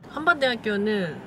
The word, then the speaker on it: 한밭대학교: 대전에 있는 야구장 남아있는 한밭야구장 에 한밭대학교는 発音した後に口を横にするのが 특징이야 한밭대학교 한밭 밭 밭 이게 팟 밑에는 그렇게 되기나인다 짜짜기 시테미테 나 한국인이야 시테미테 시테미테 한밭 한밭 すごい見てここにお花が売ってるのえ?